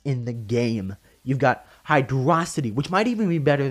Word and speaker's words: Hydrocity: a longshot hydrocity yes I pronounce it hydrocity not hydrocity it's hide raza t it even beats out